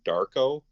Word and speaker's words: DVRKO: He just had a single that came out with an artist by the name of Darko, who's an EDM guy. It's spelled DVRKO.